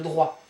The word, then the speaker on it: droit: Le droit. So don't pronounce the last T here.